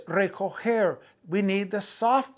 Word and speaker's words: recoger: Okay, recoger. We're learning that the G has a hard G and a soft G. So when you say recoger, that's a soft G sound.